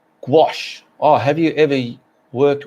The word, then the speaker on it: gouache: all right well that's quite interesting isn't it pronounced gouache oh have you ever worked with gouache no